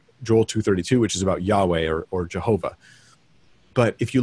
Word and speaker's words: Yahweh: Yahweh, or it's pronounced Yahweh. But it definitely wasn't Jehovah. It might've been Yehovah, but it wasn't Jehovah because there's no J in Hebrew. There's just no J sound in the language at all.